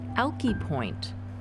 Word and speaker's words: Alki: after crossing the plains Brewster Denny calls it alkie Brewster Danny's pronunciation was the correct one this is based out